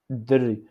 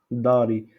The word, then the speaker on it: دري: Dri. On parle pas ici Had, Dari. Dari. Parce que si on dit Dari, c'est la maison. Si on prononce Dari, c'est-à-dire la maison. Mais pour l'enfant, on dit Dri.